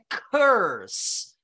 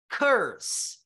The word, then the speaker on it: curse: Então essa palavra é corse essa palavra é Curse perceberam a diferença corse Curse Olha se você troca essa pronúncia numa frase que que significa a palavra